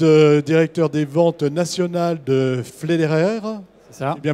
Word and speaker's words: Pfleiderer: Vous êtes directeur des ventes nationales de Flederer. C'est ça. C'est bien prononcé. Bien prononcé. Flyderer, on est quasiment.